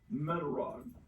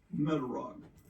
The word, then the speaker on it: Metarog: that we are today metog metog that's spelled me a r o metog metog he